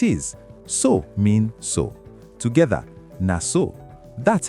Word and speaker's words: na so: Together, na so. That's how it is. Pronunciation, na so. Keep it short and crisp.